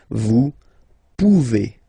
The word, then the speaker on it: pouvez: A Z like that, okay? Remember you pronounce it E, okay? Vous pouvez, vous pouvez.